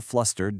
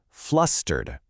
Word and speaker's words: flustered: Now, to sound perfectly natural when you say it, you want to pronounce it flustered. Notice how the stress is right there on that very first syllable.